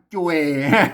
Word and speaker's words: จ้วย: เข้า ไป เนี่ย อ่า จ่วย ม อัน นี้ มัน จ่วย แล้ว ไม่ ใช่ ช่วย นะ ครับ ภาษา ไทย มัน ช่วย นะ อ่า ภาษา า อ่าน ว่า จ่วย นะ จ่วย นะ ครับ มัน